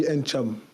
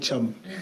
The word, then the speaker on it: Ntcham: Alors, on prononce le N ou on l'aspire? Il y en a qui l'aspirent, il y en a qui le prononcent, mais moi, je lui dis Ncham. Et ma mère a dit Cham. Donc, ça ne me dérange pas. C'est Ncham.